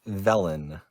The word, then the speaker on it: Velen: her name again felon velen oh hi velen just like zelen yeah isn't that great